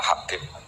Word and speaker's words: Habib: Itu di harokatnya kitab itu ada yang nulis Hubab. Yang benar, oh enggak, yang benar itu bacanya Habib. Habib itu As-Sulami itu ikut marga Robiah gitu.